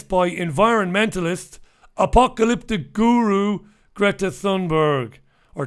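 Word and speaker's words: Thunberg: environmentalists apocalyptic guru Greta Sundberg or tunberg I think they say tunberg they don't pronounce the T hates a hearty tunberg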